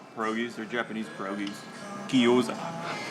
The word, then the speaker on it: Gyoza: Gyoza. Guzogi. Guzoga. Guzogi? Gyoza.